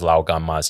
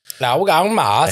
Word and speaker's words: Lao Gan Ma: The most famous one is Lao Gan Ma's chili crisp, which I gave you a jar of. Lao Gang Mas. And Did I say it right? no. That sounded Vietnamese.